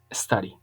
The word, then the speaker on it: study: Study, study, ¿ok? Suena como una especie de AO, study, study.